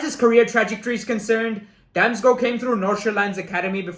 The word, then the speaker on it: Damsgaard: sampdoria for danish winger mikhail damsgo yes that is very much how it's actually pronounced the fee is reported